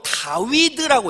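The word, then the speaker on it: דויד: 그래서 A, 히브리어 알파벳에 A는 1번, B는 2번 이런 식으로 알렙, 베트, 기멜, 달렛 이렇게 번호를 매겨놨는데, 히브리어 단어로 다윗이 히브리어로 다위드라고 해요.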